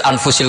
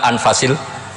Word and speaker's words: anfas: Di sini ditulis anfusil kutub, selalu saya baca anfasil kutub karena maknanya kitab terbaik. Kalau kitab terbaik bacanya bukan anfus tapi apa? Anfas.